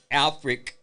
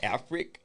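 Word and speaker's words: Africk: Alfrick, that's how you pronounce it, Alfrick, denied a motion for a summary judgment brought by the St.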